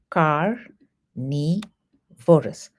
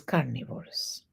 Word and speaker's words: carnivorous: It is car neorus. Carnivorus. It is carnivorous.